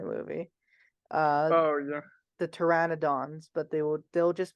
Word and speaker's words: Pteranodon: that yes right the pteranodons although the uh p is silent it yeah because they don't have because the p is silent so it's Pteranodon sounds like Pteranodon but it's yeah but